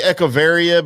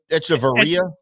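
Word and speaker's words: Echavarria: Uh I always say echavaria, but how do they say it on TV? They say etcharia. Etia. I still think they say it wrong, so I'm going with what I say.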